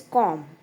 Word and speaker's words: comb: B is silent.